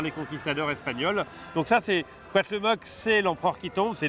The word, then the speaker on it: Cuauhtémoc: Je vais te laisser prononcer son nom. Ouais. Ça a l'air très compliqué. Alors c'est le Cuauhtémoc.